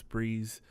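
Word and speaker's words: Bre-Z: you say her name it's Brees it's a BRE - Z I'm pretty sure she just pronounces it Brees but she play free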